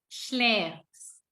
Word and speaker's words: schläfst: Tapi pada saat du sama en-nya hilang, tambahin st, tapi huruf a-nya di sini berubah memakai umlaut, pakai titik 2. Jadi bacanya e. Jadi du schläfst.